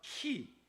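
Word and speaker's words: χ: 거예요 이게 뭐냐면 사실은 x자가 이거는 헬라어로 키 그 다음에 피자가 아니라 이거는 rh rh하고 K 하고 같이 섞인 발음을이 발음이 나는 그리스도라는 두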